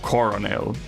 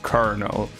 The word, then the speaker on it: colonel: have read as a coronel but no it's pronounced colonel and yeah just like the word kernel that is like the center of uh of um of the OS, right?